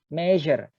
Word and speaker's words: measure: Expeditions, aims, measure, S-nya dibaca Z, measure, cavity, space, hollow.